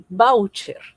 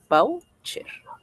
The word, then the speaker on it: voucher: No, aquí está el voucher. Voucher. Voucher es una palabra grave. Tiene la mayor fuerza de voz aquí en voucher.